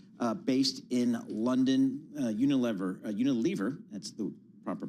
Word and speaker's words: Unilever: Unilever Unilver, that's the proper pronunciation.